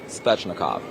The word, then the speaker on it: Svechnikov: It's Svechnikov. Svechnikov. Have to pronounce that 10 times over.